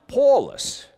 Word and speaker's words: Paulus: should probably mention that in latin tiny is pronounced paulus my hebrew name is saw that's rabbi saul